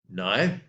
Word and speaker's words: knife: Knife, KNIFE. You do not pronounce the K. No K sound.